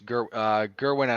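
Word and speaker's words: Jerwin: I believe it was it's not Yerwin, it's Gerwin and Hakas.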